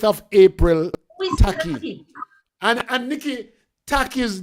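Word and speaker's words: Takyi: And Nikki, Taki's name is not spelled T-A-C-K-Y. It's spelled T-A-K-Y-I.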